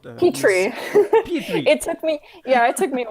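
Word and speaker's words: Petiot: It's Petrie.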